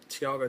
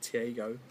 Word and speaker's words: Thiago: a lightweight B between Togo Tavarez Thiago Tavarez not TGO versus okay kabib nura